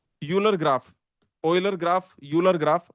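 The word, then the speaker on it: Euler: graph is a not uler graph Oiler graph uler graph okay basically there is no oiler circuit you can say what whatever is the correct pronunciation uler oiler. Okay. So let's call it oiler.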